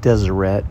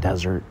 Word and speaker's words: Deseret: it's pronounced Deseret not desert I was corrected a